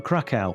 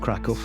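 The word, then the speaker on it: Kraków: today we're heading for Krakow or Krakow as we were told it's pronounced locally probably Poland's most famous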